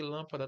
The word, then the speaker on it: lâmpada: Que é o caso aqui de lâmpada também, ó. Última sílaba, penúltima sílaba e antepenúltima sílaba. Ou seja, como é que eu falo? Lâmpada.